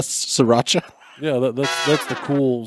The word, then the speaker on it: Sriracha: that boy I'm going to add some srir srir mhm yeah is that one syllable L Sriracha yeah that's that's the cool Street way to